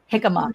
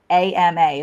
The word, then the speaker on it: jicama: If my jicama, it's actually Jicama is how you spell it. Jicama. It's kind of like when you say Jose.